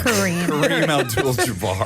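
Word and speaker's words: Kareem Abdul-Jabbar: Kareem Ald Jabar.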